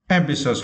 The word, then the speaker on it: ambitious: And for the next word, ambitious, right? And for this word, we need to stress the second syllable. Ambitious.